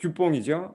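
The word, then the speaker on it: DuPont: 그 이제 듀폰트라는 그러니까 불어 발음으로는 이제 듀뽕이죠.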